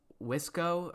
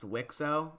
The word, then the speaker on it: WICSO: Like is it Wisco or Wixo? It's pronounced Wixo. Like Wisco would be what if what if started civilization over. And I feel like that'd be a little bit of a stupid name.